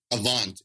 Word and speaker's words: Avant: credit score, this top one, I can never pronounce this right. Is it Avant? Avant.